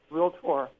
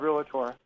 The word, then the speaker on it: realtor: Bruce, there are only two realtor, not realtor. I hate to correct you, but Okay. everybody does that. Only two syllables in realtor.